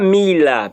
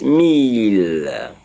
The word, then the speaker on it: mille: to also remind you that our 1,000 is mille. The spelling is M-I-L-L-E. In French, it's spelled M-E-L-L-E. M-E-L-L-E. That is a mille. It's not mille, please. It's mille.